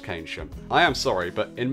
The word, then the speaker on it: Keynsham: of clips I have to apologise for my pronunciation of Keynsham When I was there I pronounced it "Keynsham" Only later I realised it was pronounced "Kaynsham" I am sorry but in my defence, English